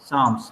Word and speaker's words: Psalms: P यहाँ पे silent है. The Book of PSALMS, साम्स, PSALM, P इसमें साइलेंट है, साम बोल।